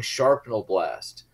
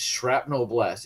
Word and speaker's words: shrapnel: but you know like somebody was saying sharpnel blast and mike is like it's shrapnel blast it's an actual actual work no here I had